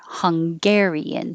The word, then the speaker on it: Hungarian: then we put the stress on gare hungarian so you would hear the ga hungarian 33 angry so 31